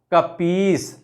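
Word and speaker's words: कपीश: उदाहरण लेते हैं कपीस तो हम जब उच्चारण करेंगे तो इसका सही उच्चारण क्या होगा कपीस ठीक है ऐसे ही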